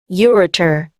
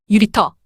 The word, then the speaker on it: ureter: 그 대표적인 예로 ureter, ureter, 유리터, 요관, urethra, urethra, 유리스라, 요도, 유리터, 요관은 신장에서 방광으로 가는